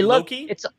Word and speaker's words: loci: Larry, the method of Loki is a very famous memory trick from cognitive psychology.